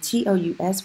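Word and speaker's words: tous: and I repeats you TR us we are not pronouncing the S because we are describing my cousin's okay - to save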